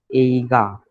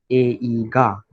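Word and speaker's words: 映画: ना ना, it's not गी. गलत है, गलत है. एगा. एगा. Correct.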